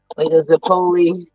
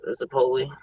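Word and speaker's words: zeppole: Most likely to get like a Zipoli or Zipoli, whatever you want to pronounce that shit. To me, is Zipoli. It's What's a almost zip?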